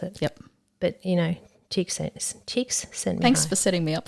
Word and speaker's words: Csikszentmihalyi: Csikszentmihalyi. I know, right? So he's this. Okay, no, hold on, down here.